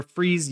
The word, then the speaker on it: Freese: You are Freeze, the way you said to me, like fleece, but with an R.